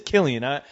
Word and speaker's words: Cillian: I'm telling you, he looks like Cillian Murphy, man. Not that picture that he has right there. So you got a thing for Cillian, which you are right. It is Cillian.